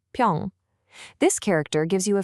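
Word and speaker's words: 平: And next up we have pyeong, which is pronounced pyong.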